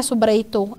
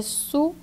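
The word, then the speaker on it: sub-reitor: E a pronúncia não é subreitor, é subreitor.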